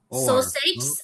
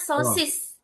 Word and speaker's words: sausage: Sausage artinya sausagis. Sausage. Sausage ini dibacanya sausage.